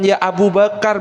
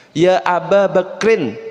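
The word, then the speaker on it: يا أبا بكر: tes di situ memang bukan ya Abu Bakar bacanya Ya aba bakrin sing benar Nggih banyak di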